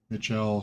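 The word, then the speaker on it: Michel Delving: avoid that off to Michelle delving Mitchell from the Old English or Middle English meaning large this is the large delving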